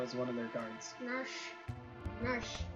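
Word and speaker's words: Narshe: Narsh. It's a weird pronunciation. Yeah, but that's what it is.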